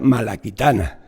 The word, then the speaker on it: Malacitana: Traditio Malacitana, que se pronuncia Malaquitana.